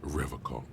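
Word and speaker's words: Revachol: He pronounces Revacol with a hard K, unlike other people.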